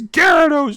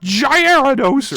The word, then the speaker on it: Gyarados: You said Gyarados wrong. It's Gyarados, not Gyarados, right?